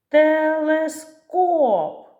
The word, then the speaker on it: телескоп: на який склад падає наголос телескоп наголос падає на останній третій склад комета скільки складів три